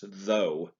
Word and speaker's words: though: words such as though if i was to read this phonetically it would be pronounced and that's not correct it's though we have a th sound and we have a gh sound at the end which changes the sound of the word completely another example is future